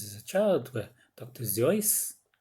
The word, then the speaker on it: Seuss: Seuss, who's often mispronounced as Dr. Seuss, and Roald Dahl.